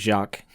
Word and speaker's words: Jacques: You know, cuz it's uh it's a French name, I believe. Yep, I looked up pronunciation, it's Jacques.